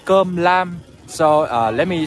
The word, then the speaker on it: cơm lam: So I'm just talking to the man, and this is what we call cơm lam. So let me spell it out for you.